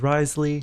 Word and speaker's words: Wriothesley: farm some artifacts for uh risely or Risley I'm not sure which one is the exact correct way to pronounce it but I've heard both in the trailer it was risely so that's kind of what I'm gonna stick with um so I'm gonna